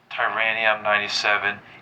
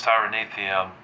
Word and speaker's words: tyrannotherium: Now there is some punk I want to address before we get started and that's Tyrannium97. Yes, I know it's Tyrannithium cuz he said it, but you know what?